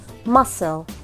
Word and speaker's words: muscle: muscle muscle برضو تتنطق س مع ان بعديها مش الحروف اللي هي الاي والاي او الواي.